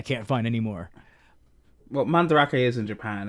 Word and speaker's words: Mandarake: I thought it was fucking Mandrake. I'm stupid. I mean, it's spelled Mandrake, but it's pronounced Mandarake. because it's Japanese.